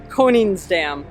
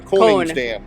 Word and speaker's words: Koningsdam: Koningsdam. The Koningsdam. Like an ice cream cone.